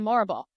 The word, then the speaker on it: Morrible: I think the true villain in the story is the wizard and Madame Morrible. Which I mean, to be seen, right? I also realized rhymes with horrible.